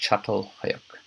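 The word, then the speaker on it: Çatalhöyük: non-moving Society of Agriculture again it's pronounced shuttle click and that concludes section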